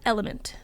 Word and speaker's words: LMNT: It's actually called Element. Yeah, but when you're doing the website, you got to do it phonetically.